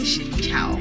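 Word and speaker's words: xin chào: Uh, you say Shincha. Shincha.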